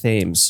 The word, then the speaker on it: Thames: It's pronounced Thames.